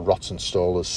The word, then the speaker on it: Rawtenstall: So yeah, there's Ramsbottom there, there's Bury Bolton Street, and Rawtenstall, or Rottenstall as it's pronounced there.